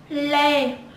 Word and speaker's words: Lê: Trần, Trần, and next is Lê, Lê, Lê, Lê.